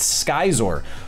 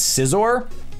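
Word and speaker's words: Scizor: way a little known fact if you Google skyer you will discover that is that that is actually the correct pronunciation it is pronounced skyer a lot of imposters are running around saying it's zor disappointing very disappointing learn your Pokémon Nido King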